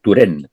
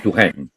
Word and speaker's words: Touraine: tempranamente, que fue Alain Touraine. Me imaginaba que ibas a nombrar a Lantojan. Claro. Y fíjate que lo pronuncié como pronuncian los belgas, ¿eh? Touraine, es Touraine. En cambio, tú lo pronunciaste bien.